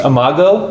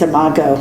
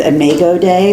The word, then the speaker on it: imago: and they were right so it's imago it's imago okay there is one pronunciation it's omego day but i don't i think that was wrong you know how sometimes google pronounces completely incorrect oh yeah pretty sure it's not a magog day well you know for